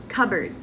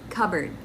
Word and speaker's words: cupboard: b subtle number four cupboard cupboard silent p cupboard number five rendezvous